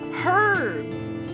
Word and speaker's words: herbs: Herbs. Herbs. She pronounces the H.